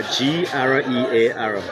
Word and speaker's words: Grear: So it's how you spell it? What's your name again? Grear, G-R-E-A-R.